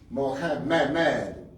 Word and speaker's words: Muhammad: So with that, all the people who name themselves Mohammed, the name is pronounced Mohammed. You got a tashdiid in it. So you say it 2 times.